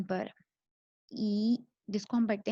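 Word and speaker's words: 一: हम कोई भी नंबर बताएंगे ना, for example actually it's about E versus याओ.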